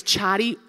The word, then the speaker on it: Chari: doing I heard you said my name wrong it's chatty you're doing great where's